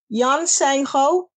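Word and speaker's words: Yeon Sang-ho: apologize for massacring uh the asian names here yan seng ho um that's how you say it yes he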